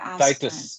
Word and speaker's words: Titus: true Titus Master James Titus is another sincere Titus Titus Titus is the way pronounced yeah Master James tius so if you